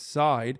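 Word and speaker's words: Seid: People who've dealt with him say it's Side.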